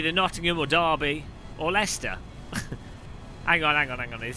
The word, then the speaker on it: Leicester: Lester anybody in shout from Lester that's how they say it locally Lester I've been to less